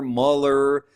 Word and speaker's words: Mueller: they absolutely butcher Gavin Mueller's name every chance they get. Mueller Mueller like I'm like where are you where are you guys getting you know, these pronunciations man like it's Mueller.